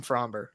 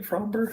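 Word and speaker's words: Framber: I've been calling him Fromber. Is it Framer? I do pronounce the B in Fromber. So do I.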